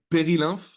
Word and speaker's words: Perilymph: to say this and please correct me if I'm wrong in this Peril lymph am I saying okay pery yeah in French you would say pery when did Peril lymph